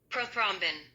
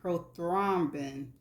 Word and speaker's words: prothrombin: And this is how it is pronounced. Prothrombin. I know I didn't say that. Prothrombin. Prothrombin.